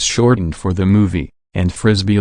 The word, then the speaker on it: Frisby: The title was shortened for the movie, and Frisbee, which is pronounced like Frisbee, was changed to Brisby to avoid trademark problems with Wham-O, the company that makes America's favorite flying disc.